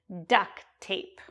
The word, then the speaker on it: duct tape: Notice the way I pronounce it, we don't really use the T in duct tape because they run together. So it's just like duct tape.